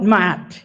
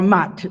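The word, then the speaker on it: Maat: They call it mat, or mat, whichever way you want to pronounce it, M-A''A'-T.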